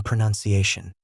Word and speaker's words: pronunciation: The o in pronounce becomes a u in pronunciation.